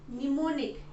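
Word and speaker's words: mnemonic: इन the form of निमोनिक एम एन ई एम ओ एन आई सी एस ए य silent है ठीक है निमोनिक्स के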